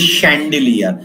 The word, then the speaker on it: chandelier: This is chandelier. Means a CH is pronounced as sh here.